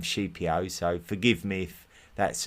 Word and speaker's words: Scipio: We're going to be looking at Sheipio, who I know a lot of people call him Scipio. Um, I'm just trying to stay true to the Latin pronunciation and and call him Shipio.